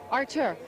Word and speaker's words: Artur: Artur, you sure about that?